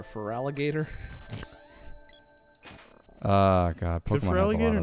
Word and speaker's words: Feraligatr: Could Feraligatr not fit everything? Feraligatr cannot fit. That's why Gator in his name is spelled G-A-T-R.